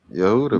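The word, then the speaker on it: יהודה: How would you pronounce Judah in Hebrew? Do you know Yehuda? Yehuda.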